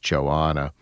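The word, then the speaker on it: Johanna: So, uh, but Joanna, and it's it's spelled J O Han N A. I think that's pronounced Joanna.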